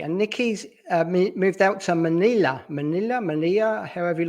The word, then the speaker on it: Melilla: it's pronounced Melilla. Melilla. So Okay, the two L's fine. are pronounced as a Y, so Melilla.